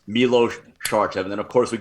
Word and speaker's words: Milos Sarcev: fan message me, and he gave me the full pronunciation guide. I mean, pretty much the full etymology of your name. So now I can't get it wrong. Milos Sarcev.